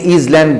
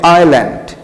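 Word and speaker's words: island: আইল্যান্ড, অনেকে ইজল্যান্ড বলো, আসলে এসের উচ্চারণ হবে না, এস সাইলেন্ট থাকবে, হবে আইল্যান্ড।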